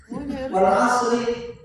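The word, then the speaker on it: والعصر: wal asri berhenti. Ada yang gitu bacanya. Wal asri innal insana lafi khusr. Asrinya berhenti. Maksudnya ringnya dibaca. Asyar baru Wal asr. Kalau mau berhenti Wal wal asr. asr wal fajr.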